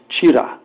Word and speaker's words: chira: They spell it Chivda, but it's Chira, right? Flattened rice.